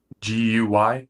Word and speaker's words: Guy: GUY? Oh, yeah. G like guy, but pronounced key.